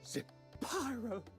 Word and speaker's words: Zapyro: But Zapyro, 3 syllables.